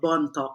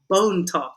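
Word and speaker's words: Bontoc: in a place called Bon Talk. So Bone Talk is a joke because that's how the Americans, when they came to the Philippines, they pronounced Bon Talk as Bone Talk.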